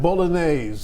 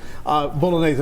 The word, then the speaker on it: Bolognese: this morning to make a special short rib bolognaise recipe Bolognese I said it right well this is basically